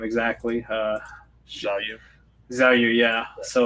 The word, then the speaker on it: Xiaoyu: Xiaoyu.